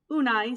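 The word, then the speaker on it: Unhei: here what's your name unai sedunai unai the girl ass crunching up her face some kids chanted no no it's spelled u-n-h-e-i it's pronounced the boy said like you hey what about you hey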